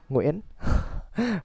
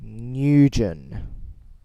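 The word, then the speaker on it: Nguyen: a win right well some people say win I've got you know have you ever heard newgen have you ever heard newgen I've heard Yujin and I how do you pronounce the line what makes you think is newgen win fine win fine I think the closest way you can say it in English is annoying win like I don't expect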